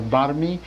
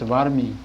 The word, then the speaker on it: varmi: And so the mantra here is to not be sort of pronounced too hard like a barmi, but rather is varmi. Satam barmi mari, sata varmi. So should be pronounced as varmi, varmi.